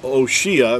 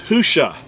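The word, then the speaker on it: Hoshea: an accurate transliteration uh the actual word is husha it's spelled you know it's spelled uh ha with the letter he or ha UA or o and then the shin and the Ain it's spelled with four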